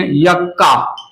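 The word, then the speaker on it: Yucca: and this लेप्टोसेंट्रिक इट is found in यक्का, यक्का पढ़ते हैं, कोई कोई युक्का पढ़ते हैं, प्रोनाउंसिएशन का लीजिए, मेरा तो प्रोनाउंसिएशन यक्का है, कोई कोई युक्का भी पढ़ता है, तो ये युक्का हो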